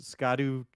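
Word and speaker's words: Scadutree: find these things called, and I'll say it how it looks like you're supposed to pronounce it, Skadu tree fragments. But really it's old English, it means shadow tree.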